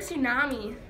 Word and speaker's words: tsunami: In the word tsunami, the T is silent.